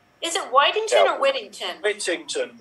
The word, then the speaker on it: Whittington: Whittington. Yeah, like Dick Whittington.